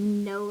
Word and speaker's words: know: nose you smell with this word with the silent k means you know about something so they said your